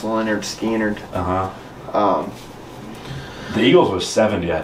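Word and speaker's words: Lynyrd Skynyrd: It's pronounced Leonard Skynyrd.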